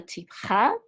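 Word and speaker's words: טִפְחָא: And this right here is the tipcha.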